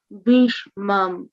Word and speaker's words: bhīṣmam: ayaneṣu cha sarveṣu yathā-bhāgam avasthitāḥ bhīṣmam evābhirakṣantu bhavantaḥ sarva eva hi. He. Bhish. This is bhish. Give it your full energy. Bhish, right? Bhīṣmam. Yeah, there's a I.